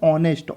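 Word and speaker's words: honest: हम इसका परिणाम देखें तो क्या है भाई ऑनेस्ट ऑनेस्ट यानी कि क्या हो रहा है प्रोग्राम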